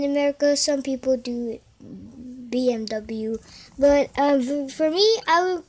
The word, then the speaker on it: BMW: The reasons why I choose this car is because, look at this VMW, because some people, in Mexico, they pronounce it VMW sometimes. Some people does that. In America, some people do it. BMW, but for me, I would pronounce it both.